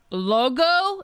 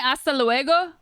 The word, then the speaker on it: luego: Logo? Isn't it hasta luego?